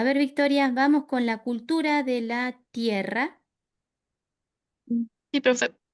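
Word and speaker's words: culture: Bueno, la culturé de la terre, no pronuncio la e final.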